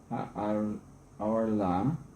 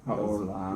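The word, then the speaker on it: הערלה: Ve'inyan mitzvah zo hu shechotchin ha'arla. So is this or o? To do it properly. It's called kamatz katan, Mm-hmm. and it's pronounced o. Oh. Yeah, Ha'orla.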